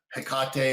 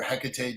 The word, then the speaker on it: Hecate: older times it was hecate or hecate depending on how you pronounce it um an uh